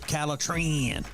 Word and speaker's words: Calitrin: If you want to sleep better and lose weight, then the product that you need is called Calitrin, or you can pronounce it Calitrin.